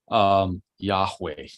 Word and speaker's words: Yahweh: So for a long time, just pronouncing this, Yahweh, we think that may be the way it was pronounced. It's 4 Hebrew letters, Yod, He, Vav, He, or Wow, He. So it's Yah-ha-wah-ha.